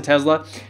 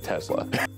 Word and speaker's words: Tesla: He says it the way I say it, with the Z sound.